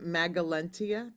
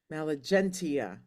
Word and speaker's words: Malagentia: Um, from the East Kingdom, from Magalentia. Did I say it right? Maligentia. Dang it. Malagentia. Was my guest tonight.